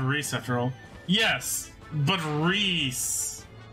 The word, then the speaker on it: Rhys: how to pronounce Rhys how do you pronounce Rhys Reese that's how I pronounce Rhys where'd you sound a